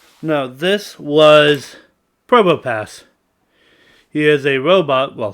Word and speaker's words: Probopass: No, this was Probopass. He is a robot, well, cyborg, who passes the entrance exam straight into S class. Also, the P is silent like in Pterodactyl.